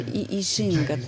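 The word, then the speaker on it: 易經: Ну на самом деле ишин произносится это слово по китайски Что именно и означает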